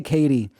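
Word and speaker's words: Caity: okay we have katie i'm gonna say katie uh because it's spelled c-a-i-t-y oh man i don't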